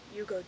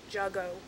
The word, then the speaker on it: Jugo: good um anyway so we've been calling it Jugo Juice because it's spelled Jugo Juice j u go o Jugo anyway turns out that that is wrong supposed to be Yugo juice Yugo Spanish for juice so it's called juice